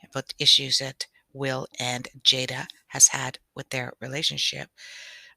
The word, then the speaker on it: Jada: not jaden sorry and make sure i'm going to say her name properly jade jada jada pickett pinkett she has her own